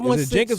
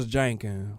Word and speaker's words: Jenkins: is in the building Jenkins or jenin don't say my name like that is a j can